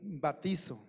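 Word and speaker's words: βαπτίζω: Viene de una palabra griega que se pronuncia más o menos así, batizo, que significa sumergir, hundir.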